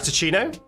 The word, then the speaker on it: Rino: I'm rat ichino I'm Rino like a cappuccino but made of rat I'm Rino it's good to have you Rino you actually said it